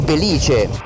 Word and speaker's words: Belìce: è stata posta qui come simbolo della nuova Gibellina ma poi è diventata simbolo di tutta la valle del Belìce (l'accento dovrebbe essere sulla i) ed eccoci finalmente siamo